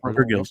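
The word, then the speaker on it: Purrgil: Purgles? How you pronounce it? Purgle? Yep, Purgils.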